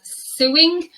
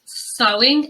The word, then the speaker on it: sewing: is often mispronounced as suing or the verb to sue neither of those pronunciations is correct it's pronounced sewing and the verb to sew it's the hobby or